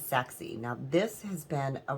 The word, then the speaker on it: Sachse: is the sen cut socksy sexy it's actually um spelled s-a-c-h-s-e but I believe um from the pronunciation that I know it is sexy now this has been